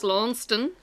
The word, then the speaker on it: Launceston: and queen victoria museum how did you pronounce that launceston if you're in scotland it's longston i think it's a scottish town um so we got